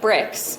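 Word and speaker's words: Brix: And so we start with the grapes being at what we call like bricks, so like 26 bricks.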